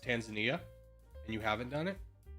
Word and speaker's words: Tanzania: By the way, it's pronounced Tanzania, and you haven't done it?